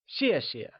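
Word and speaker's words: 谢谢: xie xie once again it is said with the falling tone like xie xie since thanks translates to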